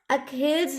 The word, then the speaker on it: Achilles: Next है हमारा अखिल्स हिल्स, ये भी बहुत आता है। क्या है नेक्स्ट हमारा?